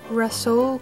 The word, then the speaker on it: Rhassoul: It's Rhassoul Clay or Rhassoul Clay, like wrestling.